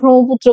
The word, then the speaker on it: ব্রহ্মপুত্র: আমরা ব্রহ্মপুত্র বলি, হ যোগ ময়ের মতো উচ্চারণ এটা।